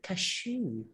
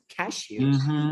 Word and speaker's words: cashew: know and in english and we say cashew cashew yeah cashew cashew it sounds like cash to you cashews cashew you know yeah